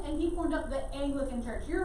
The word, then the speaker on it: Anglican: he formed up the anglican church you're right yourself that it does on that does look kind of like angel angel akin anglican is how most people pronounce this just make a note